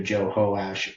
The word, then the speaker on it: Jehoash: And both of them also have it pronounced either Jehoash or Joash.